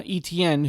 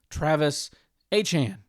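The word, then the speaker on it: Travis Etienne: solid about is going to be Travis uh ETN who uh apparently it is not actually ETN. Uh he said this past week that his name is pronounced Travis Achan.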